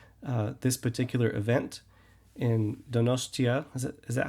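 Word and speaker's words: Donostia: this particular event in donosa is is that how you pronounce it that is the Basque name of the city the Spanish name is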